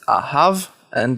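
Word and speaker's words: אהבה: Once again, this is ahav and this is ahava. The hey is silent. We don't pronounce it.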